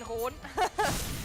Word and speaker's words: Ron: Azulain Ron. It's actually not Rune, it's actually Ron.